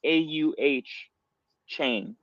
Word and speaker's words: Achane: got down this deep rabbit hole into Devon Achane. That's how it, literally on Texas A&M's website, it showed you how to pronounce it, and it was like A-U-H chain.